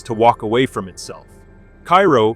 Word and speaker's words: Cairo: Cairo, pronounced like the syrup, not the Egyptian capital, sits at the southern tip of Illinois, where the Mississippi and Ohio rivers meet.